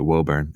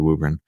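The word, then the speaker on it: Woburn: wubber just outside Boston everybody pronounces it wurn and so did I but it's actually wubber Ren Scott is a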